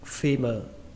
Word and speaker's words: femur: Đọc là femur, femur, femur.